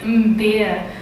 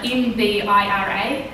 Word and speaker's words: mbira: And so that instrument is a mbira, like mbira, and you spell it M-B-I-R-A.